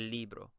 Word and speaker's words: libro: Remember, the I here is pronounced like an E sound, so you would say el libro.